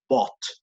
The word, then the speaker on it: bought: Y igual, para la misma corrección que le hacía Camila hace un momento, pronunciemos el participio de buy, de comprar, como bought, como si no hubiera la U.